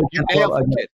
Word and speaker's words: Goltsov: Dennis, is it Goltsov? Am I pronouncing Dennis that? Goltsov.